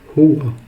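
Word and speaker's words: هو: Donc, au singulier, il, en arabe, on va dire huwa. Huwa. Huwa. Huwa est composé de 2 lettres. Donc, le ha et le waw.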